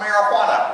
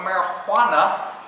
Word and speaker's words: marijuana: something that is called marijuana with an H right cuz in 1937 nobody had to pronounce a j as an age Spanish so Spanish different